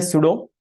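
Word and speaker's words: pseudo: तो बोलते वक्त पी साइलेंट है बच्चों, तो इसे रीड करना है सूडो।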